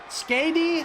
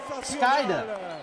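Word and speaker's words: Skayde: Skady? How do you pronounce that name? Skady? S-K-A-Y-D-E? That's who's underneath the Power Raider Blanco mask. From the top, doing a flip. Holy shit! Skyda. Skyda? Thank you.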